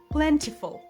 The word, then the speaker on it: plentiful: The common error is to pronounce the tea strongly. The tea here is very soft, almost like a D or a quick flap, plentiful.